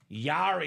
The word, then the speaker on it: Jari: Yari as well, Chris. I was second guessing myself. Yari on that beautiful hockey helmet. All right. Very nice. Yari as if Yari, but it's spelled J A R I.